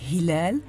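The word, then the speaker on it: هلال: l'on entend dansaba et le ha comme dans le mot House en anglais et Hilal en arabe le RA comme le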